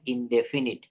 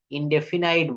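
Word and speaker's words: indefinite: Present ইনডেফিনিট tense, present ইনডেফিনিট, ইনডেফিনাইট বলবেন না। আপনারা এটা যা প্রত্যেকের মোবাইলে ডিকশনারি নামানো আছে না, ডিজিটাল যে অ্যাপস, ওখানে দেখবেন ইনডেফিনিট, ইনডেফিনিট। আমরা অনেকে এক্সট্রা ভাবে একটু বাড়িয়ে বলি ইনডেফিনাইট।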